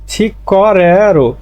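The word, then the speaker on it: 직거래로: ছিক করেরো উচ্চারণটা হবে ছিক করেরো, মানে গিউকের পরে গিউক আসলে দুটায় ক হয়ে যায়।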